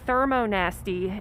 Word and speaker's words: thermonasty: is this process called thermonasty, and it's spelled just like it sounds, or I make it sound just like it's spelled.